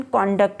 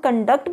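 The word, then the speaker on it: conduct: बात बताती चलूँ कि जब हम कॉन्डक्ट कहते हैं तो इसका मतलब रवैये होते हैं और इसकी प्रोनाउंसिएशन कॉन्डक्ट होती है। लाइन नंबर 7 में देखिए, ये वर्ड कॉन्डक्ट मैं पढ़ रही हूँ, लेकिन इसी वर्ड को हम कंडक्ट भी पढ़ते हैं जब हम इसे वर्ब के तौर पर यूज़ करते हैं।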